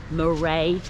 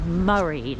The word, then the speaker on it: Moray: I've been on the Moray coastal trail, and she was like, no dear, that's not how you pronounce it. You pronounce it Murray, like M-U-R-R-A-Y.